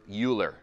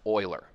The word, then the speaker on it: Euler: formula now i've heard a lot of people pronounce this name a lot of different ways i've heard euler a lot okay and i won't necessarily get